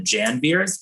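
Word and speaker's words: Janvier: of family members called the jan beers spent like um spelled like the french january and um one cabinet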